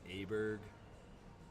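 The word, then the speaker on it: Åberg: months after the fact he actually prefers name aberg even though it's not spelled like that that's my bad pontus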